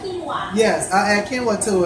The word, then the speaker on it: quinoa: Another thing I've done is if I make it a burrito, I'll add quinoa to it. Did I say it right? Quinoa.